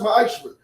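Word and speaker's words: מעשר: Means 10th in Hebrew, and it's pronounced ma'ashra.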